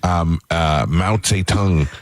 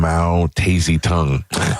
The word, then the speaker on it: Mao Zedong: So when I grew up, I was pronouncing all these names wrong. Mao Zedong. Oh. She would call him Mao Tazy Tongue.